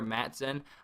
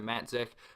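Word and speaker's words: Matzek: So I kept saying Tyler Matzon. I completely apologize. That's my fault. It's Tyler Matzik. I could be pronouncing that wrong, but it definitely does not end in an N. It ends in a K.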